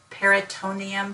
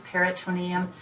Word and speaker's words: peritoneum: to be able to differentiate that word from perineum there's an extra syllable when we're talking about the GI tract or gastrointestinal or abdominal area peritoneum peritoneum peritoneal cavity peritonitis we'll